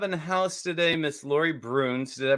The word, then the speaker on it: Bruhns: doing we have a house today miss laurie broons did i pronounce that right yeah you did well wonderful